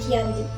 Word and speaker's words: Giyanti: Disebut Giyanti karena perjanjian ini ditandatangani di Desa Janti, yang dimana dalam pelafalan Belanda ialah Ianti yang dibaca sebagai Giyanti.